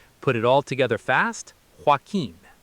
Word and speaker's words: Joaquin: While people accidentally say Joe at Queen, the standard American industry pronunciation is Joaquin.